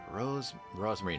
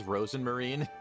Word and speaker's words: Rosenmarine: Rosemarine. Her name is Rosenmarine, by the way. She is actually Rosenmarine, but Elise just gets her name wrong 100% of the time.